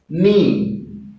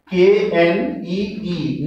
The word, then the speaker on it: knee: Next word, knee. K-N-E-E, knee. Here K is silent.